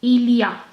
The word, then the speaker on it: il y a: hear you pronounce it you will pronounce this whole expression like Ilya Ilya Ilya Ilya mean